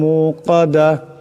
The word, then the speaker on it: الموقدة: ওয়া মা আদরাকা মাল হুতামা নারুল্লাহিল মুকাদা। নারুল্লাহিল মুকাদা। নারুল্লাহ, এখানে আল্লাহর নামকে মোটা করিয়া পড়তে হবে। নারুল্লাহিল মুকাদা, এখানে বড় কাফ আছে, আওয়াজটা গলা থেকে আনতে হবে।